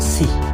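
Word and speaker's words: 四: Pada pelafalan bahasa Cina, angka 4 dibaca dengan Shi, S-H-I, yang diartikan bisa bermakna ganda antara mati atau 4.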